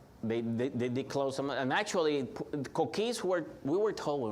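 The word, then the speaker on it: coquí: that every night okay it's spelled c-o-q-u-i with an accident on the Ico key you can spell it's pronounced c-o-o-k-e-e cookie so there there were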